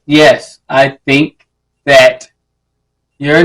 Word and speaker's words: Ye: Yes, you gotta say his name right.